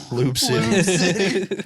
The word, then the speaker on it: Loup City: No, I said Loop, but we call it Lube. I didn't know Lube it spelled it. City over Why here. is it That's spelled- what that place in China was called after all them eels got out. Loop City. Because of the Loop River.